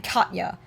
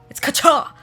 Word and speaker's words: Katya: When people say my name Katya, and it's Kacha. Like Koch, like catch, but it's Koch.